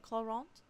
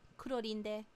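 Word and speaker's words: Clorinde: So in the English dub, they actually do use the proper French pronunciation of her name, Cloront. In Japanese, they call her Kurorinde.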